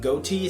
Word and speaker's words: Ghoti: overall this particular archetype which is called gothi if you don't know or I don't really know how people pronounce it some people go like goatee some people go into gothi I think I'm going to pronounce it like that a point is it's